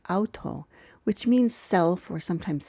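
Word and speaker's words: αὐτό: Enos Auto this first four characters here is pronounced Auto which means self or sometimes same and it's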